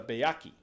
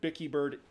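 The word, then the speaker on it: Byakhee: are sometimes referred uh although for the record Bicky bird is an inaccurate pronunciation that is established they are pronounced byaki uh some people say byaki but no August derli said it's byaki they are also referred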